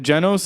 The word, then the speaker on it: Genos: Yeah, and Genos, I think is that how you pronounce his name? Genos. Genos, yeah, he looks the dopest.